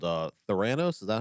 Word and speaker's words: Theranos: was the ceo of a company called uh thoranos is that how you pronounce it theranose yeah with theranose and quotation marks essentially yeah